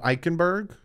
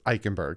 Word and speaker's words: Eichenberg: mean i was close but it's eguavon liam eichenberg some people say i say his name wrong i got that right william it's eichenberg liam eichenberg i got dane clayton clayton so